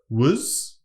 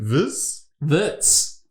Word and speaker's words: Wurz: George has jumped on the board alongside Alexander Wurz. That's not how you say it. Wurz. Is he from Germany? Would you say Wurz? Yeah, I'd say Wurz.